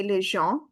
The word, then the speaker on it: les gens: Les gens. We will not pronounce S at the end, and EN is ah.